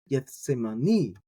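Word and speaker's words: Γεθσημανί: You got the gamma epsilon Gethsemane, and you get that say there, and then the stress is on the very end. Gethsemane. It's just not. It sounds very different than how we do it in English.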